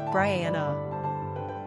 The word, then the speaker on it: Bryanna: Pronunciation, Brianna.